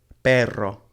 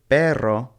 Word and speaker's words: perro: with these two words the first one is pero and it means but the second one is perro and it means dog so the way that you pronounce these is going to be key because they mean two completely different things even though they look